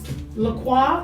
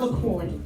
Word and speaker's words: La Croix: I've had La Croix, and it's not LaCroix. It's La Croix. Croix is how you pronounce it in Yeah, La French.